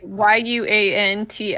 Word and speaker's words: Yuan-ti: No, like Yuanti, right? Yeah. Oh, Yuan-Ti. Oh, Yuan-Ti. You, that's okay. I pronounce it like a wand.